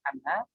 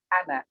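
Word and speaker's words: أنا: Jangan mengucapkan ana, itu ada syiddahnya, tapi ana.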